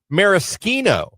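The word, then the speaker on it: Maraschino: You're pronouncing it wrong. It's Mariskino.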